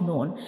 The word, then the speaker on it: ن: So this is the pronunciation of noon. This is the origin of noon.